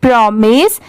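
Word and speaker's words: promise: होता है ठीक है बहुत सारे जगह पर इसे माइज भी प्रोनाउंस किया जाता है बट यहां पर इसकी साउंड क्या है मिस की है यहां पर स्टार्टिंग का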